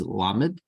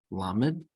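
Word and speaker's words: למד: The next letter is lamed, lamed. L, U, as in look.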